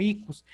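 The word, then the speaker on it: ἰχθύς: Se mencionaría como icus, y entonces icus significa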